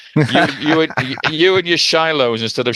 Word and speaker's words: Shiloh: know that yeah you you you and your Shiloh instead of sheilo for instance and all that sort of thing